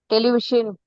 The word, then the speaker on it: television: Television. Vision. Like Tamil Ra sound, television. Yeah, it's a special sound.